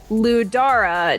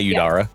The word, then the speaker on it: Udara: pronunciation of it but I wrote down ludara not audar or whatever is written here okay well what oh my pronunciation like last week no it's udara yeah I have so